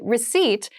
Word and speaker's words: receipt: a very interesting spelling there is a p in the spelling of this word but we do not pronounce it the pronunciation is receipt a receipt is a small piece